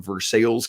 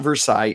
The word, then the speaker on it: Versailles: but is originally from versales Kentucky no it's not Versailles and Kentucky they pronounce it ver sales I kid you not